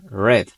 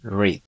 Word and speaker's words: read: En esta ocasión yo pronuncié este verbo de la siguiente forma: red. Esto es porque estamos usando este verbo en pasado. Sin embargo, si lo decimos en presente, tendremos que pronunciarlo de la siguiente forma, que sería read.